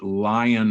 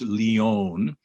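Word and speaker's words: Lyon: and it's called the lion heart diet it's spelled l-y-o-n it's leon but everybody calls it the lion heart diet study and what they did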